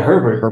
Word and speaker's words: Herbert: the Polish poet Herbert is that how he pronounce his last name yeah Herbert it's Herbert yeah b b uh Herbert yeah